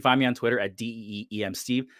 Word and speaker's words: DM Steve: Oh, you can find me on Twitter at DEEM Steve. That's DM Steve phonetically.